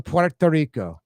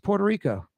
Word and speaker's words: Puerto Rico: You just, if you're speaking Spanish, roll the tongue, Puerto Rico. Yes. But if you're speaking English, Puerto Rico.